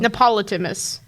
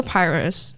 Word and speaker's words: Pyrrhus: Neoptolemus. Or Pyrrhus.